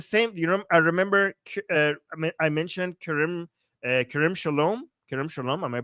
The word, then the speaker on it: Kerem Shalom: Okay, Jewish Samantha is saying it's Kerem Shalom. Thank you for helping out the pronunciation.